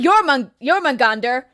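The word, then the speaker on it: Jörmungandr: Now I'm going back to Thor, because strong enough to, throw planet-sized snakes, basically Jormungandr, that's the correct pronunciation.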